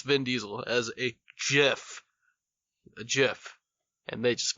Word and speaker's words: GIF: It's pronounced GIF with a hard G.